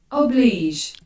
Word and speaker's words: obliged: I'm not sure it's pronounced obliged, but let's see. Oh, it's an accent. O-B-L-E. Not like this. Oblige.